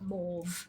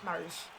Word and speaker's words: mauve: I've always said it rhymes with rove. Yeah. Yeah, well, that's, like, I've said mauve a few times.